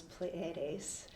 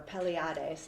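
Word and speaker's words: Pleiades: So what they believe is and that the word that they used to call was pleades or pelades is how you pronounce it.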